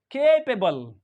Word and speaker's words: capable: And this word is CAPABLE. How do we pronounce this word? The first CA यानी first syllable we pronounce is K. Capable.